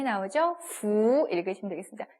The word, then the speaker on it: 福: 부 읽으시면 되겠습니다. 퓨라고 읽으시면 안 돼요.